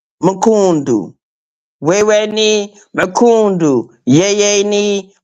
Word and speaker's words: mkundu: Yeah, it's Makundu. It's a Swahili phrase, Mrs. V, and it means asshole. It is spelled MKUNDU. Makundu.